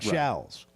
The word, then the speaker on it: Shows: It's spelled it's spelled shows. Sounds like shallows.